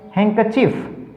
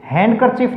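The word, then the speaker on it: handkerchief: इसी प्रकार से हैंकरचीफ, हैंडकरचीफ नहीं, हमारा जो उच्चारण है ज़्यादातर गलत होता है।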